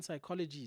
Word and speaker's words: psychology: You know how the P in psychology is silent.